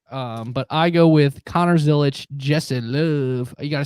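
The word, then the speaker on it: Zilisch: But I go with Connor Zilich, Justin Love.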